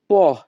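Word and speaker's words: po': কিছুক্ষণের মধ্যে ত্রা উন পহ এখানে পি ও এর উচ্চারণ হবে পহ ইতালিয়ান ভাষা ত্রাহ উনপ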